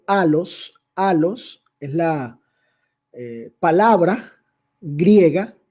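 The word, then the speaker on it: ἄλλος: otro el término otro que se pronuncia en griego a los a los esla palabra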